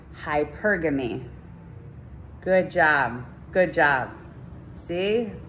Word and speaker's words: hypergamy: hyper game hypergamy okay say it with me hypergamy hypergamy good job good job see look at us